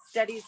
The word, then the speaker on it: Stettie: A little background on where steady came from, because it's spelled STETTIE, which steady hand is kind of cute and quirky for a decorative painter.